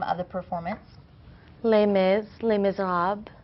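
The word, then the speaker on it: Les Misérables: Les Mis, Les Miserables. Les Miserables.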